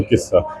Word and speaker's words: QISA: तो इसलिए नाम किस्सा। अच्छा। तो ये जो किस्सा क्योंकि इसके जो उन्होंने स्पेलिंग्स चेक किए वो क्यू आई एस ए है। लेकिन अगर हम उसको पंजाबी में बोल तो किस्सा हो जाता है वो।